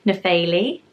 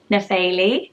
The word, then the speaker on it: Nephele: I found a name called Nepheli. Nephele. Isn't that pretty? So it's the P-H-E, but I think you pronounce it Faye, Nephele, and she was from